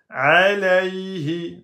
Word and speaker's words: عليه: Alayhi. Là, on a un ya soukoun précédé de fatha. Ce n'est pas une prolongation. On va prononcer le ya soukoun. Alayhi. Alayhi. Donc, c'est comme un y en français.